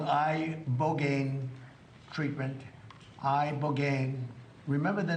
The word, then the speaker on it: ibogaine: Ibogaine. Remember the name. Is that pronounced relatively properly, would you say?